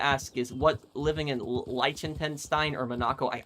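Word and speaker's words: Liechtenstein: is what living in Lentenstein or Monaco? I I always pronounce that country's name wrong. Likenstein I think that's how you say Likenstein. Not Lentenstein. Likenstein.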